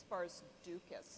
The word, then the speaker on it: Barzukas: It's Barzukas. Barzukas. It's a tricky one because you have to hit every single letter.